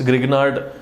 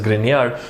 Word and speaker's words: Grignard: Yes, Grignard बोलते हैं लोग उसको, but that guy's pronunciation is Grignard.